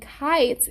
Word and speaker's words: kites: And kites is a long I word, right? Because the I in kites, how does the I in kites sound? Right, K-I-T-E-S, kites, K-I. It's a long I sound, right?